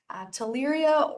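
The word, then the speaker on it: Theileria: So it's the Asian longhorn tick that carries it's a protozoan disease, Tuleria orientalis. It starts with a Tuleria is TH, the H is silent there.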